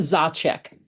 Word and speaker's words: Zacek: And I just realized I didn't ask how to pronounce my guest's last name. It's Zach.